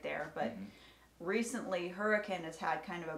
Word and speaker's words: Hurricane: you'll hit hurricane utah it's spelled like hurricane but it's actually hurricane and that it's about